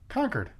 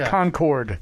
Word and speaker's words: Concord: Hampshire trivia for you how do you say the town where he's from conquered conquered yes not Concord yeah listen here you're